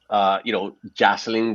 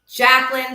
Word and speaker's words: Jacqueline: And so today I thought that I would invite Jocelyn. Did I pronounce that correctly, Jocelyn? Jacqueline, but close.